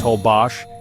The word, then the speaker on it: Holbox: Holbox Island, pronounced Holbos, is where time slows and the sea whispers peace.